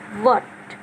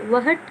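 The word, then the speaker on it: what: देखिए जैसे वट, अब ये एच क्यों साइलेंट है, वट क्यों है, वहट क्यों नहीं है, की आवाज़ क्यों नहीं आ रही, क्योंकि ये डब्लू के बाद आया है, इसलिए ये हमेशा साइलेंट रहेगा।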